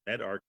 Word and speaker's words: medRxiv: Med is pronounced MedArchive, preprint server.